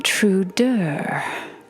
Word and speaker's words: Preorder: I am Preorder. That is Preorder. When you pronounce it, you need to roll it like a curse and finish it like a sigh.